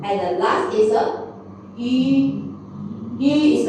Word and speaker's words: 鱼: If you really cannot pronounce, you just imagine you want to do a kissing. You want to like kiss your wife. Okay? Just like yu, like kiss.